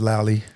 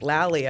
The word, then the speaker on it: Lalia: So I come from, my mother's name is Lally. My father's name is Willie. And I always thought your mom's name, I remember one time you called me out, because it's spelled Lalia. Yeah. And I was like, Lalia.